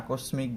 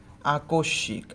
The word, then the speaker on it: আকস্মিক: ওকে, এটাকে আমরা ভুল উচ্চারণ করি, আমরা অনেকে এটা আকস্মিক বলি, কিন্তু সেরকম হবে না। তো আমাদের উচ্চারণটা কেমন হবে? আকস্মিক, আ কো, এখানে অধ্বনি আছে তাই ক এর